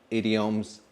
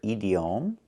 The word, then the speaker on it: idiom: And with that, you'll be able to hear phrases, idioms, native conversations. Idiom. Another ediom. We cannot pronounce a word like this. We do not pronounce it edom. It's pronounced differently.